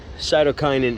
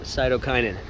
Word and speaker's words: cytokinin: a little update on our cytokinin experiment that is the correct way to pronounce it i figured it out cytokinin um so oh if